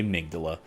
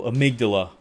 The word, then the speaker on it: Amygdala: I had to actually Google that shit because I did not know how to say Amygdala.